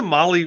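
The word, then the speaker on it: MAHLE: And for those podcast listeners, Molly is spelled M-A-H-L-E.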